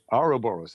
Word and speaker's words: Ouroboros: The Ouroboros, I think I don't pronounce it very well. Ouroboros.